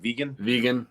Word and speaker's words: Vigen: Vegan.